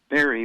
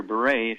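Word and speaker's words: Barré: by the name of barry or beret however you want to pronounce it guillain-barre they named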